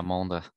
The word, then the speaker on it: Mende: 9-minute climb, watts per kilo test, which is Mende. Yeah, that's how you pronounce. Yeah, Mende.